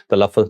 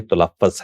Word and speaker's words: تلفظ: پہ غور نہیں کرتے۔ ابھی دیکھیں میں نے تلفظ کہا تھا، تلفظ نہیں ہے، تلفظ ہے۔ تو ہم اس کے